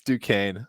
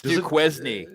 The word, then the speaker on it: Duquesne: It's Duquesne. It's Duquesne. Does anyone even know how to spell Duquesne there? Duquesne. That's the way you spell it. It's not the way it's pronounced.